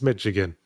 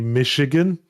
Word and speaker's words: Michigan: the way I pronounce mchigan that's fine you know what tell them apparently apparently it's supposed to be Michigan yeah should have put an sh there instead of a CH well quite yeah also